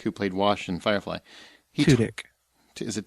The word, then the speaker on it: Tudyk: played Wash in Firefly, Tudyk. Is it Tudyk? Tudyk. Yeah, you're adding vowels and stuff that are not even. There's a whole syllable you put in there.